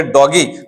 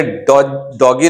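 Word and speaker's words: doggy: आप बोलोगे डॉगी और आपने लिख दिया DOGY, तो ये डॉगी नहीं है, ये हो गया डॉजी। तो डॉगी लिखने के लिए क्या करना पड़ेगा? डबल जी लगाना होगा। याद रहेगा?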